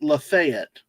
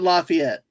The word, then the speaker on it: Lafayette: Because, see, there is a county in Florida that is, they pronounce it Lafayette, not Lafayette or Lafayette. So, and Purdue is in West Lafayette, Indiana.